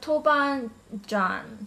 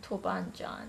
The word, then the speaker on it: toban djan: sauce chili bean sauce I know that you pronounce it tubang in Korean but I don't know really correct me if I'm saying this wrong it's it's called toban John toban John I'm sorry but yeah